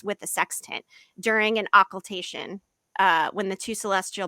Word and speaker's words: occultation: is a ah well okay I need to pronounce population occultation occultation OCC u-l-t-a-t-i-o-n um in terms of sextant